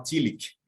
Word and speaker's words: Tillich: pronunciar o nome dele uma forma tentando se aproximar daquela pronúncia mais alemã né então fica aquela coisa meio kil aquele S meio esse sonzinho de mais AES calhado Ao estilo alemão e o pessoal que pensa de uma maneira mais inglada né então fala tiic e aí facilita como se fosse um cali no final são duas das pronúncias